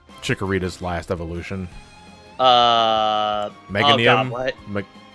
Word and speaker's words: Meganium: I can never pronounce Chikorita's last evolution. Oh Meganium. God, what? Meganium, I think it is.